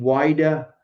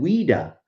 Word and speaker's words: Whydah: And again, the ship name Whydah is often called Whydah and even Ouida, after the French pronunciation of the territory in Africa where the slave trade took place.